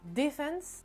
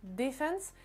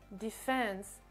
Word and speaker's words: defense: Mais typiquement, le mot defense, en anglais britannique, l'accentuation se fera sur la première syllabe, donc le D, defense, defense, et en anglais américain, ça se fera sur la deuxième syllabe, donc defense, defense, defense.